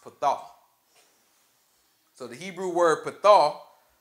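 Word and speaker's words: פתה: So this word enlarge is actually a Hebrew word pronounced pathah.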